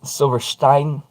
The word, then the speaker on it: Silverstein: Sidewalk Ends shell Silverstein well sh Silverstein because I'm sorry I've had enough people that speak German and or turn around and speak broken enough German that been corrected on my pronunciation multiple times that it is Stein and noten uh the